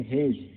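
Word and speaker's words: hedge: उसके बाद देखिए हेज, हेज मीन्स झाड़ी, जहाँ डी साइलेंट है, HEDG, हेज मीन्स झाड़ी।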